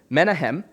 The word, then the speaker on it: Menahem: This dude named Menahem, I always don't pronounce the name right. It's Menahem, and his name, Menahem, means comforter.